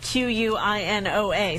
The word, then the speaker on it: quinoa: And quinoa, if you've seen it in the store, it's spelled like Q-U-I-N-O-A. So it doesn't look like quinoa, but that's what that is.